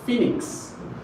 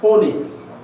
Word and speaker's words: phoenix: Hello pronounce. So this is phoenix.